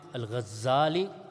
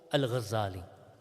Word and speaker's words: al-Ghazali: Abu Hamid al-Ghazali or al-Ghazali. Both pronunciations are mentioned with respect to him.